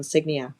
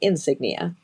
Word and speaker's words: Signia: I said it right. Toyota Toyota Toyota has a crown signia which I think a lot of us have said we keep calling it insignia because that's just the easier word and and it's the